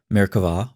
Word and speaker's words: Merkavah: Frequently spelled with a B but pronounced with a V, Merkavah, or throne mysticism, refers